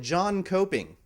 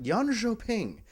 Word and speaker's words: Jönköping: pronounce that one because an uninformed PC gamer might call it John Coping, but Jönköping. Yeah, K's are J's and J's are Y's in Sweden, which is awesome.